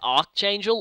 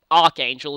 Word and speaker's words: Archangel: special Fusion skill with ar angel or Archangel as I've been told it's actually pronounced which might be good